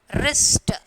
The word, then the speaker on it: wrist: wrinkle, and then wrist. Wrist is W silent.